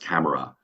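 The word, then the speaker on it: CAMARA: and that's got an acronym but it's it's pronounced camera uh and that is um driven um by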